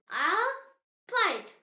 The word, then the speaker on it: Arbeit: Arbeit. It means work or job. Meine Arbeit macht Spaß. My job is fun. B, pronounced as bay, just like the English letter B.